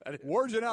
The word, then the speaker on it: Wojnarowski: Wojnarowski. Is that correct, Hembo? That is. Wojnarowski.